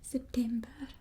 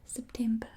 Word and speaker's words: September: You just kind of have a bit of an accent with it. September. So the R is the most important part. September.